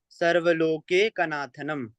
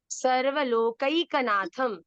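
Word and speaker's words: सर्वलोकैकनाथम्: उसको हम शांताकारम भुजग शयनम पद्मनाभम सुरेशम विश्वाधारम गगन सदृशम मेघवर्णम शुभांगम लक्ष्मीकांतम कमल नयनम योगिभिर्ध्यानगम्यं वंदे विष्णुम भवभयहरं सर्वलोकैकनाथनम सर्वलोकैकनाथम।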